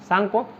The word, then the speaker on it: Tsangpo: TSA, T silent रहता है, TSANGPO, सांगपो।